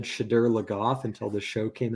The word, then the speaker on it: Shadar Logoth: Like it's well, I just figured it's like a dark shade. Shade. I'm like shade. It's got to be Shadar.